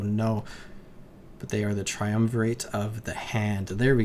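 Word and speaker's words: triumvirate: Tri triumverate oh no but they are the triumverate of the hand there we go that's how you pronounce it where these are just very very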